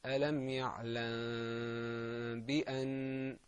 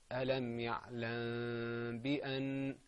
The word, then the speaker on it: ألم يعلم بأن: The correct way to say this is ألم يعلم بأن. Okay, ألم يعلم بأن.